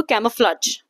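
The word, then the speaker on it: camouflage: अब यहां पे इस वर्ड का प्रोनाउंसिएशन मैं आपको बता देती हूं। कैमोफ्लज। ठीक है? कैमोफ्लाज। आप इस प्रकार से इसे बोलेंगे जो राइट स्पेलिंग है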